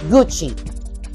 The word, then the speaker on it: Gucci: Repeat after me, Gucci. Ang spelling ng Gucci is G-U-C-C-I, but pag binasa mo siya, parang maikli lang yung U, tapos Chi, C-H-I. Gucci, not Gucci, hindi ganon.